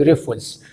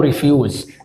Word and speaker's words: Rufus: وهنقدر نبحث عن برنامج ريفوز تمام ريفوز او ريفيوز تمام اللي هو ده يا شباب ده برنامج اسمه ريفوز وفي ناس تانيه بتنطق ريفيوز تمام طبعا اذا كان